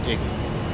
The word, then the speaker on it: EGI: The primary navigation system of the A-10C is the embedded GPS, INS, or EGI, often pronounced IGI.